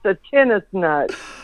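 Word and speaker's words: tensnut: and i love to play tennis so it's pronounced the tennis nut that's great i always thought it was like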